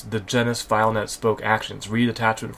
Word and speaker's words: Genus: That's what's new from the team at Genus Technologies, Inc. I might have said Genius earlier, but this is Genus or Genus. G-E-N-U-S.